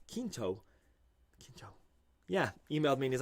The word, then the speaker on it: Quinto: and she goes hey you say quinto but that's not how you pronounce that name and i said oh it's q-u-i-n-t-o and then kinto yeah emailed me and